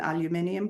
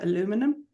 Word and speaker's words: aluminium: And for anybody new, I would recommend an aluminium pot. If you're in America, aluminum, but you spell it differently.